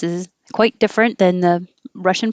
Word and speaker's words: Russia: quite different than the russian pronunciation we say moscow with a real ow moscow and this is also very different russia with an uh uh in both vowels russia thirsty and this